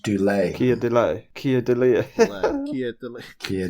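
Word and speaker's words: Keir Dullea: His surname is pronounced dule. Kia delay.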